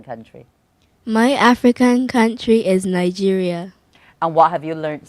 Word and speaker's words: Niger: have learned so far it's pronounced Niger Niger yes mhm hold your mic